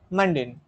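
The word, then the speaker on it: mundane: question number three তে আছে কি মানডেন এটার উচ্চারণ কি হবে এই ওয়ার্ডটার সঠিক হবে মানডেন মানডেন এর মানে কি মানডেনের মানে হচ্ছে একেবারে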